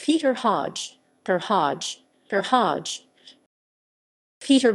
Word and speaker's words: Høj: the university of copenhagen professor hodge pronounced hoy completed a bachelor of